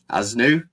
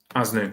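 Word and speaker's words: Aznou: Aznu. Aznu.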